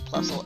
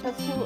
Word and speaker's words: Plusle: Oh, Plusle and Minun. Yeah, Puzzle and Minun.